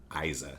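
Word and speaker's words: Eiza: Isa Gonzalez. Isa. Yeah. Spell that. E I Z A. Isa. It's like Eliza without the L.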